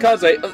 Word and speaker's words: Kaze: Thanks, Kaze. I appreciate it. I hold you that, though. You hear? Yes, of course. But my name is pronounced Kaze.